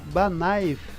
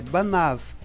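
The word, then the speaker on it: בניו: Só que aqui você pronuncia, em vez de pronunciar Banaiv, é Banav. Veja que o Yud, ele apenas, junto com o Vav, ele indicou a forma plural, mas ele perdeu a sua pronúncia, tornando-se uma letra muda.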